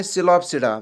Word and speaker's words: Psilopsida: पहला क्लास है इनका, उसको हम बोलते हैं सिलोप्सिडा। जो पी होता है इसमें ये साइलेंट होता है, तो स्पेलिंग हम अगर लिखेंगे PSILOPSIDA, दैट इज सिलोप्सिडा।